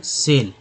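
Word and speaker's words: SAIL: अभी सिंगल सिंगल मतलब alphabet के जो लेटर्स होते हैं उसको सिंगल सिंगल जब लिखा रहे तो उसको सिंगल सिंगल उच्चारण होता है, SIL सेल। लेकिन यहाँ पर क्या होगा कि एक नाम ही बन गया ये जो शॉर्टकट है, तो यह सेल पढ़ेंगे इसको इन द 1950s।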